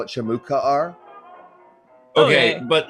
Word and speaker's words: Shamukaar: bad it's bad what's that is is it shimookar or shamuka r it's shamu they're both acceptable